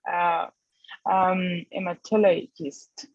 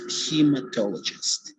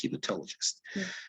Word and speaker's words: hematologist: to go to a metallicist okay you uh well you're right it's a hematologist okay notice the pronunciation it's hematologist okay yes hematologist okay so could you